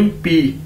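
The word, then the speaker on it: 笔: अब ये दोस्तों हमारे पास नेक्स्ट वर्ड है बी आई यानी पी। चाइनीज में बी को हम किस तरह प्रोनाउंस करते हैं, पे के तौर पर।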